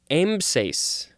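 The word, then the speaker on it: ambsace: call it a pantry next is the word aimses i think i'm pronouncing that correctly a-m-b-s-a-c-e this is a noun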